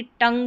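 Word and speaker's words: tongue: आधा न और ग, यहाँ पर जैसे कि टंग में पढ़ा जा रहा है, NGUE, इसको भी आधा न और ग प्रोनाउंस करते हैं।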